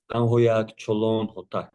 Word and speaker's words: Chuluun: My name as you correct correctly is not to be pronounced publicly very often. It's called it goes Cholon.